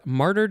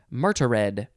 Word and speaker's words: martyred: think that's that word martyred intellectuals day martyred is spelled very weird it looks like marta red oh it's monkey day